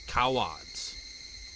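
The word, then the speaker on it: cawod: Shower is pronounced as coward. It sounds like coward.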